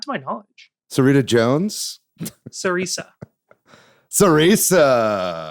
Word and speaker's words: Cereza: Sarisa.